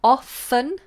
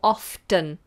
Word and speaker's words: often: pronounce the word often this can be pronounced in two ways and both a perfectly acceptable we have often no tea or often with a tea often or often both are fine how how do we